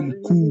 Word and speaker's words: mkuu: You need to work on the U's. Yes. You want to bring the U in it. It's U. It's not you. Ooh. Okay. Ooh. Ooh. That's what you say. Mkuu.